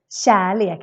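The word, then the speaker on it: kärlek: is this one charlie when you say charlie in swedish then it's super important to pronounce it as a sh sound and if you remember from our previous vowel videos this is super important when we have a k with a combination of an e e a and in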